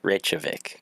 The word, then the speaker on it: Reykjavik: I never knew how to say it's a Reykjavik God yeah it is it's just a bunch